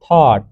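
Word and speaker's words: thought: थॉट pronounced T एच ए डब्ल्यू टी, थॉट।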